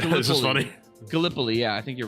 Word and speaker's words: Gallipoli: I think it may have been Did I say that totally incorrectly? It may have been... No, you said it right. This is funny. Gallipoli, yeah, I think you're right.